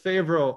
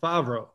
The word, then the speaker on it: Favro: spelled uh you know if you say fabro it sounds like you know like john favreau uh obviously you know